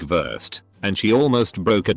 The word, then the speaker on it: Wurst: W is pronounced V. Something like worst, sausage, is pronounced more like Wurst, and she almost broke a desk because of it.